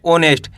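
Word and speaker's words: honest: ऑनेस्ट क्या पढ़ेंगे ऑनेस्ट दोस्तों इसके अंदर एच साइलेंट है इसको आपको कैसे पढ़ना है ऑनेस्ट यानी कि ओ से स्टार्ट करेंगे ऑनेस्ट ई एस ही एच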